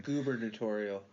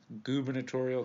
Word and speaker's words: gubernatorial: burnish dubber tutorial campaign gubernatorial gubernatorial campaign in nine in 1990 in May 1994 so how you said like the governor campaign yes that's the term that is a weird-ass term gubernatorial term of the day